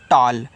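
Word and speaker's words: tall: होता है आपका लंबा टी ए डबल एल को पढ़ते हैं टॉल क्योंकि ए डबल एल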